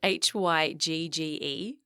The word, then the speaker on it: hygge: was quite hooker now hooga is a word that i love it's about h-y-g-g-e pronounced hygge and it's a danish word and it roughly translates